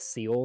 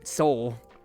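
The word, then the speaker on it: Seoul: oh yeah with with seal right next to it SE did you say seal Soul it's called It's pronounced it's pronounced Soul yeah not not not like Navy Seals All Right Shuffle this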